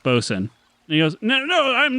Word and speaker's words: boatswain: to Sail On A Boat I'm the ship's boat Swain and then as he says that um Piper pocket says it's pronounced boson he goes no no I'm the Ship boatswain